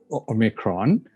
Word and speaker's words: Omicron: Some say Omicron, some say Omicron, some say different pronunciation going. Most of the people say Omicron and it's SARS-CoV-2 variant.